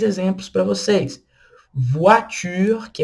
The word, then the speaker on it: voiture: Voiture, que é carro. Voiture, tá vendo? OI com som de UA.